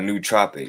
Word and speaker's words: nootropic: know whatever but look though so look a new tropic it's spelled n-o-o-t-r-o-p-i-c-u for me and i start getting